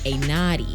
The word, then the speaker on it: A Not E: So, it's spelled like A, not E, but you say it fast, like A Naughty, to make it sound like it's an actual name. So, DJ A Naughty.